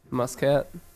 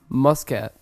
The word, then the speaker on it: Muscat: of Oman Oman um I believe it's Muscat pronounced Muscat Muscat to clear my name namami zaka we're so